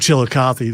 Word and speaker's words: Chillicothe: Does it start with the word chill? It does pretty much, yes.